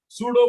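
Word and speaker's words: pseudo: Next point number 4, सूडो force. सूडो force, ठीक है। सूडो force को हम पी से स्टार्ट करते हैं, पी साइलेंट है यहाँ पे।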